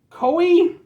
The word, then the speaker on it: KÖE: We're doing Koi. It's got the dots over the O, which means that it's pronounced like O. I'm gonna go with Ko.